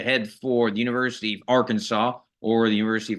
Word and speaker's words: Arkansas: great hounds to head for the University of Arkansas or the University of arcan this as some people will pronounce it in an analyst role basically it's